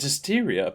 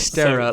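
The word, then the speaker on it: Dysterra: I was going to call it Dysteria, but obviously there's no Yeah, I it's in it, Dystera. so I heard it in their trailer. It is. I think that is how you say it.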